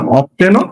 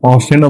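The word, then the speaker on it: often: যেটাকে অনেকে আবার এটাকে এটার উচ্চারণ দুইটা, অফটেনও বলা যায়, আবার এটার উচ্চারণ অফটেনও বলা যায়, টিটা সাইলেন্টও বলা যায়।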